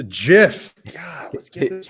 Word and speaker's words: GIF: are actually gifts which john likes to pronounce jeff it's a jiff let's get this right